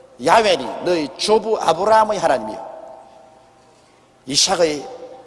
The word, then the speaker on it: 야훼: 여호와란 말은 원래 올바른 히브리어 발음은 야훼입니다. 야훼란 발음이 우리 한국식으로 번역해서 여호와라 하는데 원래 정확한 발음은 야훼 하나님이신 것입니다.